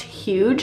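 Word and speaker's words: hygge: of this one, but this is pronounced huge, I want to say.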